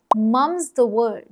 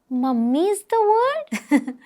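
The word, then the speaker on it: mum's the word: और जब हमें कहना हो कि ये बात राज ही रहनी चाहिए, तब हम बोलते हैं मम्स द वर्ड। मम्मी इज द वर्ड? नहीं, सिर्फ मम।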